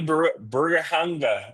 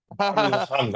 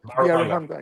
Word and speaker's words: Biaruhanga: When people say John Crutchfield or Twana Watson, Burgahunga, did I say it right? Baruhanga. Close. Baruhanga. Yes. Biaruhanga.